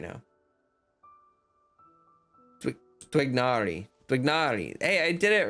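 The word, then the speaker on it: Tighnari: for the characters, and basically I guess the Arabic is kind of like Twignari kind of, or something, where it should have like almost a W sound in it, like twig with an H, like twig, you know.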